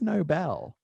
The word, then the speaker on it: Nobel: And I pronounced the whole thing like the Nobel Prize. And then someone was like, I think it's Nobel. Yeah. And it is, because it's named after Alfred Nobel.